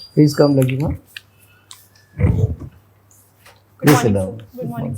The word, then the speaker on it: Laghima: Please come, Laghima. Please sit down. Good morning, sir. Have I pronounced your name correctly?